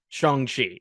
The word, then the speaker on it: Shang-Chi: Like Shang-Chi is pronounced Shang-Chi, right?